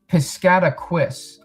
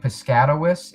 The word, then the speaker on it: Piscataquis: I think I've been saying piscatawis. It's piscataquis. It could be piscatus. Piscataqui, too. Um, I think I know some pronunciations where a qu i has a qui sound to it and not qu.